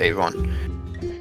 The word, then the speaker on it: Avalion: Kind of like Evangelion, but you don't say the lion. You say Avalion. It's spelled like Avalion, but it's just pronounced Avon.